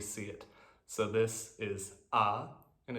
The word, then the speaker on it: あ: so on for hiragana the name of the character is the sound that it makes and it will always make that sound whenever you see it so this is ah and it's always pronounced